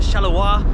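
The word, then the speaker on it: Charleroi: I Belgium Brussels uh Charlevoix shallower as it's pronounced and um I got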